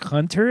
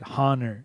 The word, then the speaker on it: Hunor: is his name like Hunter and he's just like pronuncia Orting fting it what he's like no it's like honor but hunor and I was like